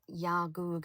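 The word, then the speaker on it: Iawgog: with my brother at Yagug Scout Camp. Well, I need to check that pronunciation. Yagug. Okay. I-A-W-G-O-G. Pronunciation. Yagoo. Final G is dropped.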